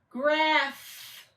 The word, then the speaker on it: graph: as a a graph can you hear the sound at the end graph yes it's a bar